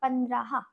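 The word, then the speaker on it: पंद्रह: 15 আমরা লিখবো প দন্তান্ন দয় রফালা হ, তাহলে আমাদের উচ্চারণ কি হবে? পন্দ্রাহা, পন্দ্রাহা।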